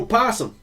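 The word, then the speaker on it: opossum: possible seen a no possum the o is silent and generally speaking so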